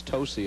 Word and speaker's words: Tosi: that I'm told that a lot of people mispronounce her name it's tosy of course known to some of her close